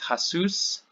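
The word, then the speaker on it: הַסּוּס: So we can see it here with hasus, hasus. So because we have a strong dagesh here, that lengthens the sound and makes the samech here also be a part of this syllable.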